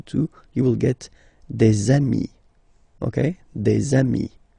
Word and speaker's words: amis: you will get des amis, okay, des amis. So ami, remember, doesn't change. Even if you get to write the S, then you don't pronounce it, okay.